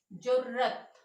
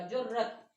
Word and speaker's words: जुर्रत: तो कैसे बोलेंगे, इसका उच्चारण कैसे करेंगे, ओके, जुर्रत, र पे जोर दिया जाएगा, इस पूरे र को दबाव देकर बोला जाएगा जुर्रत।